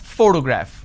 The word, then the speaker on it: photograph: has three syllables and I pronounce this as photograph which means I'm stressing on the first syllable but when I look